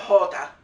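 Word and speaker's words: jota: next one letter j in spanish it's called hota but it's pronounced huh if there's an o ho if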